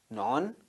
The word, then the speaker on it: non: deficiency syndrome GoPot go non government organization. Thank you very much. Non remember it is not none.